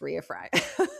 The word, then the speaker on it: Rea Frey: It looks like Ray, but it's not. It's Ria Fry.